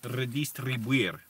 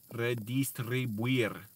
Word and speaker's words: redistribuir: Oh, redistribuir.